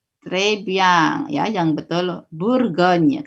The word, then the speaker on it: Bourgogne: Karena tadi ya, O ketemu U dibaca U biasa. Ya, tapi kalau U saja dibaca U. Tapi kalau ada huruf O ketemu U, dibacanya U biasa seperti U-nya Indonesia. Makanya dibaca Bur.